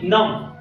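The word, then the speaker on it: numb: ठीक आहे, आता बघा की नम, बी साइलेंट आहे याच्यामध्ये नम.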